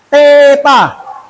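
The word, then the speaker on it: theta: ada yang tahu ada yang tahu gak Apa bacanya Teta ya ya kan ini adalah huruf ya huruf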